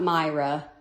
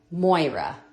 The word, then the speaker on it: Moira: It's not Myra. Moira, that's her name from Shitz Creek.